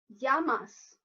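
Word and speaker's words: Γειά μας: know is tears so Cheers in Greek is Yama's pronunciation Yama's and now that you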